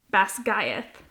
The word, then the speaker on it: Basgiath: was totally off I said Bas and that's Bas GTH yeah we're just going to roll with it